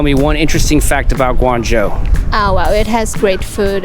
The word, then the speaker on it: Guangzhou: All right, in Shenzhen, but taking a side trip to the city of Guangzhou. Am I pronouncing that right?